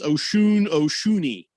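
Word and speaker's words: Osunniyi: As I start to go down here, they're not the Osunny, but it's not how you say it. It's Oshuni from St. Bonaventure.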